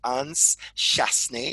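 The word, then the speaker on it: Anse Chastanet: fabric coming back again this is how we pronounce it Anne's chaste knee it's French they're only 49 of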